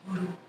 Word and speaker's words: Guru: That same R sound is used in Guru, pronounced Guru.